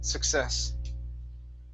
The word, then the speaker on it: success: is success right here the stress is on the very end success success okay all right